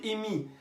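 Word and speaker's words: אמי: colère contre moi », ma mère en hébreu se dit « imi ». Ça s'écrit « Aleph mem yud ». Aleph mem yud imi.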